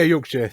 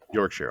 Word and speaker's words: Yorkshire: It's pretty entertaining listening to people try and pronounce that one without knowing. So would you say Yorkshire? Is that right? Yeah, Yorkshire. Yeah. Yorkshire.